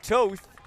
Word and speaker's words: Toth: Here's a carry there from Elliot Toth. Got the proper pronunciation there from the PA announcer.